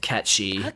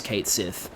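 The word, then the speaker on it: Cait Sith: So, it's funny in the Japanese version, they actually do call Kate Sith Katchi because they go off the Gaelic pronunciation. Um, but yeah, like in in English in English, they just decided to go with how it looks, which is Kate Sith, which is understandable, right?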